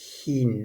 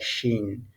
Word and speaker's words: ښ: And the correct pronunciation is Hin. Look, Hin, Ha, Hin.